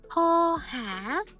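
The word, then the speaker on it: โทรหา: Chữ thô này là từ bất quy tắc nha, vì nó có chữ ro rưa nhưng không được phát âm âm r.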